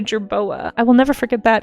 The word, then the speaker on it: jerboa: I'm pronouncing it. Gerroa, but it's actually a jerboa.